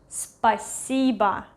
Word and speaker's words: спасибо: Спасибо, спасибо, спасибо. E is stressed here. Спасибо. This O we pronounce it as A.